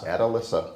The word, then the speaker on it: Atalissa: It's Atalissa, Iowa.